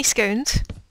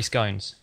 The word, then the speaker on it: scone: Why do you say scones? I don't know. It's the way I pronounce it. Yeah. See, I say scones because of the word gone, but some people say scone because of the word bone, and everyone who tries